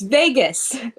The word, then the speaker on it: Vegas: not how do you it's v-e-g-a-s Vegas you're pronouncing it like v-a-y-g-u-s no I'm not yes